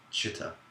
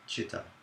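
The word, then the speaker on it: citta: the word heart, I'm referring to the word chitta, which is spelled C-I-T-T-A, chitta.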